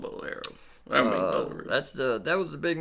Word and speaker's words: Bowlero: Bowlero? You're close. Bowlero, Bowlero. there you go. I like calling it a Bowlero. Bowlero. Bowlero bought the PBA It'd be Tour, cooler if man. it's called Bowlero.